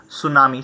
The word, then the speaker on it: tsunami: Okay, so the correct pronunciation is tsunami.